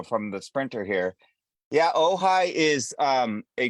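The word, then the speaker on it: Ojai: having a little difficulty it's spelled o ji Ohi oh the J is like the Mexican J isn't it I think it's Mexican I think it's a Spanish thing yeah and we have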